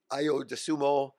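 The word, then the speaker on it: Ayo Dosunmu: 66 and he can pass the ball and IO dumo that's how you say his name he he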